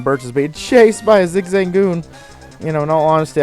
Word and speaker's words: Zigzagoon: it's a level two zigzag goon zig zagoon zig zang goon i say it like it's like a pasta zigzagoon and then you